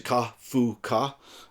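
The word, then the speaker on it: カフカ: The name Kafka in Japanese is pronounced Kafka, and it's actually Ka-fu-ka, and Ka by itself can mean possible or good.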